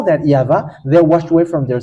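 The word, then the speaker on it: יהוה: how we read it in heaven of heavens yava and those who call that yava they washed away from their sin and they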